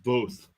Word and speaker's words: Voth: Voth, pronounced Voth.